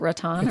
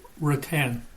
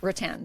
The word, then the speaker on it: Rattan: Is it Ratan or Rattan? Rattan. Rattan.